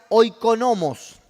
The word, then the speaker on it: oikonomos: La palabra economía viene de un vocablo griego que se pronuncia oikonomos.